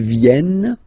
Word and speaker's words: viennent: And the rule in French is that when you get this and a double vowel after, you will have to pronounce this like eh, alright?